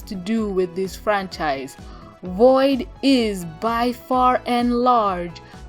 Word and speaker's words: Voyd: anyway this video is about void which is spelled v y d I had I found